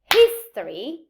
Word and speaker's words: history: For example, I say history, the stress is in his, but I say historic.